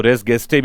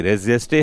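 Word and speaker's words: res gestae: कुछ लोग इसको रेस गेस्टे भी बोल देते हैं। लैटिन प्रोनन्सिएशन इसका एक्चुअल में क्या है देख लेना आप यहां पर में। अदरवाइज ये रेजेस्टे है और इसे कहा जाता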